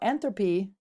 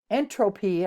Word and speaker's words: entropy: so things to remember about enthropy entropy I should say it right enop is heat entropy